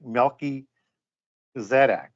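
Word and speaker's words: Melchizedek: know it's not but it's a compound word so it should be like milky zedak right it's not how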